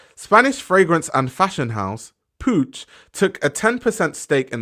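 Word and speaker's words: Puig: of them are yes that is how you pronounce it's Pooch that's how you pronounce it but anyway um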